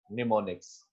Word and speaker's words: mnemonics: Spelling is Mnemonics, but the pronunciation is mnemonics. Starting M is silent.